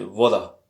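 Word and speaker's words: вода: Puisque l'accent est sur le A, donc peu importe si on dit voda ou vada, mais c'est pas vada, hein. C'est voda. Quelque chose entre.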